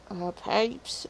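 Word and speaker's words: Pepys: a young countess um samuel pipes uh this uh samuel uh pipes as p-e-p-y-s i think that's how you say it um he described the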